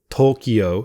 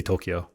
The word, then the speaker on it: Tokyo: But if it's, I could say Tokyo. I could say, or did I just say Tokyo? Tokyo. I could say Tokyo. Tokyo. Yeah, because in Japanese it's Tokyo.